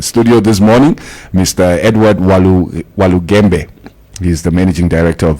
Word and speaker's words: Walugembe: Walugembe. Walugembe, yes.